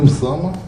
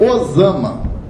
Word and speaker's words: Usama: Então nós vamos pegar aquele nome que se pronuncia Usama, vem para o português via o inglês. Então o nosso Usama, como a gente é macaco de imitação da grafia norte-americana, vira Osama. Osama, né, que se escreve. O nome do cara é Usama.